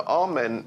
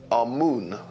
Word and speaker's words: Amun: Now, Amen is the pronunciation that the Hebrews give it, and some scholars agree to use that pronunciation. Amun is the pronunciation given to it by one of the old European scholars, Plutarch.